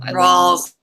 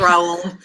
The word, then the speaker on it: Rawls: Rawls? Rowells? Rawls. Yeah. Okay. Not Raoul. Raoul's. It's not a couple of Latino men. It's not Raoul's.